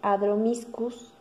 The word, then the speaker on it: Adromischus: Es una crásula y se llama, a ver si lo puedo pronunciar bien, Adromischus cristatus, o también he escuchado que le dicen Adromiscus cristatus.